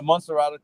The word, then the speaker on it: Montserrado: TUKPAH, may I ask you, what made you run for senator of MONTSERRODO? Am I pronouncing that right? MONTSERRODO County. Yeah, MONTSERRODO County, that's right.